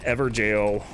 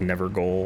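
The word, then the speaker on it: Evergaol: maybe I'll do an Ever jail series I I thought it was like never goal or something because it's spelled g-a-o-l but apparently it's pal announced jail which makes sense because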